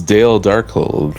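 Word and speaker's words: Dzemael Darkhold: with names absolute Garbo it's Dale darkold the Zen is silent Dale Donkey Kong yo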